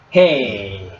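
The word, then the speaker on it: ה: Hey. So hey is the throat sound. Grammatically we used to say guttural. So it's almost like a sound of very weak and then small.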